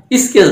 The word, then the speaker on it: sketch: স্কেচ বানান SKET, তাহলে স্কেচ বানান SKETCH, দেখো এখানে টির উচ্চারণ নাই, সাইলেন্ট।